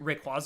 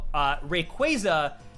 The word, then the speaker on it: Rayquaza: That being said, and I still call Arceus Arceus, even though I know that they're both specifically supposed to be called Rayquaza and Arceus, right?